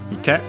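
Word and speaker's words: 池: After that we have ike. A strictly Japanese word, which means pond, accent on the last syllable.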